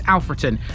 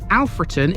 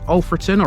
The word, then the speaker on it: Alfreton: got history at seemingly every turn this is alfron and yes before anyone tries to argue alfron is the correct way to pronounce it the locals May refer to it in darbishire dialect as ulon or even the shortened version often but these